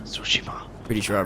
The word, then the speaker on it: Tsushima: Hello and welcome to Ghost of Tsushima. Tsushima. Pretty sure I pronounced that right.